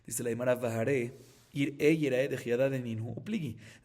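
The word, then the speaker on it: יֵרָאֶה: Ahorita, Yerae se escribe Yud Resh Alef Hei. Y se lee Yerae, pero también, y está bien escrito. Pero también se puede Yir'e, que quiere decir no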